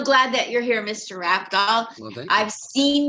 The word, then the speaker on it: Rafdal: Rafdal, I've heard of. Rafdale, I hear a lot. Raz, if I'm trying to spell it out for somebody, they'll hear the F as an S, so I get a lot of Razdal.